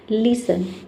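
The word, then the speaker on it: listen: लिसन लिसन का मतलब होता है सुनना। ठीक है? लिसन में देखिए टी इ एन एक साथ आ रहा है। इसमें टी को हम प्रोनाउंस नहीं कर रहे हैं।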